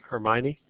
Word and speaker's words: Hermione: appropriate so her aunt's name is I always pronounce this wrong her M Herm Hermione okay Hermione okay her name is Hermione so